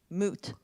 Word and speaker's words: Moed: By the way, is it pronounced Moed? Moot. Moot.